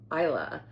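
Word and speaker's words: Islay: It's not pronounced E or E. It's Isa and it's its own island. You need to take a ferry to get there. Uh or you can actually fly into Isa from the mainland.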